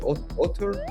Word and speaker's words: auteur: In French, auteur, Auteur.